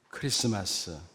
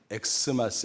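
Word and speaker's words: Xmas: 읽을 줄도 몰랐던 겁니다 여러분 이거 어떻게 읽죠 크리스마스 크리스마스라고 읽어야 됩니다 영어 알파에처럼 생겼지만 사실은 헬라 크리스라는 단어의 첫글자 키입니다 이런 사실을 잘 모르고 사람들이 엑스마스 엑스마스 부르는 것입니다 무지를 드러내는 거지요 가만히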